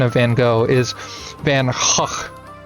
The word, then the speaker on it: Van Gogh: to actually pronounce it the correct Dutch way because I mean I